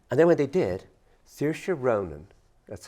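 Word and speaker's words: Saoirse Ronan: of film projects and then when they did Sira Ronan that's how you pronounce her name who is who was the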